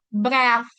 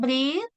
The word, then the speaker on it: breath: Ini dibacanya breath ya, teman-teman. Breath. Bukan breathe, tapi breath. Yang lainnya udah mulai bagus, udah bagus.